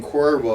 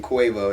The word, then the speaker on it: Cuervo: That's hilarious because that's not even how you pronounce it. When you pronounce Right. it, he's saying Cuervo. Cuervo, and yeah. he's saying Quavo.